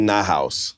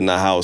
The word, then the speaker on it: NAHOUSe: You can pronounce it any way you want, man. Well, how do you pronounce it? I pronounce it NAHOUSe. Cool. But you can call it NAHOUSe, so because it is a house.